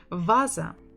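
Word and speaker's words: ваза: Vaza, vaza, vaza, vaza. Stress on the first syllable.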